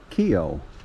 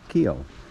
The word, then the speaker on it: Keough: the hot springs well the pronunciation is Kio like k y and then o Kio so this is kio's